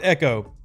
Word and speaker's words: Echo: Well, okay, so it's pronounced Echo, but I like to call him EcoBoost Engine because of how it's spelled.